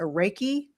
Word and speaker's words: Reiki: And but you are also and I may pronounce this incorrectly a Reiki master?